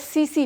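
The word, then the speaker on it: tsetse: इसका जो वेक्टर है उसका नाम है सीसी फ्लाई, हम इसमें टी को साइलेंट रखते हैं, मैंने 11th क्लास वालों को भी ये पढ़ाया है, ठीक है।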